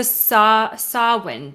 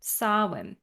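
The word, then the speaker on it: Samhain: very proud of them oh it was a sawwind dinner that's how you pronounce it thank you B soben okay yeah so that's what I have kind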